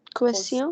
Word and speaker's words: question: not question, it's question. Listen to me very carefully. When you have Question. Q, when you have the alphabet U coming after Q, the U is silent. So it's not que, it's que. Question.